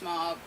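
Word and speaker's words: MOBB: I believe it's pronounced Mob. Otherwise, it's just M-O-B-B.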